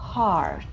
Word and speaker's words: heart: нам нужно просто запомнить heart. Вы можете потом распечатать себе все эти страницы и подписать себе, хоть русскими буквами, мне все равно. Длинное А. Heart.